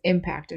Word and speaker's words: impact: you can say this impacted me as well so you can say it both ways but the noun form impact the stress is on the first syllable always so impact is the